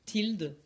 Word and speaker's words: tilde: La médiane, elle s'écrit X avec une vague au-dessus, qu'on dit tilde, donc X tilde.